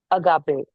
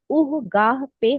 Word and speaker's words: agape: Agape. Pronounced agape is what Jesus demonstrated on the cross